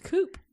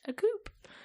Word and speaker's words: coup: called a coup and I was like a coup and she goes a coup and I said